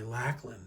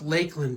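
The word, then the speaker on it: Lakland: I had to put another 9-volt in my Lackland. I don't know why or Lakeland. I don't know why it's pronounced Lakeland, but there's no E there.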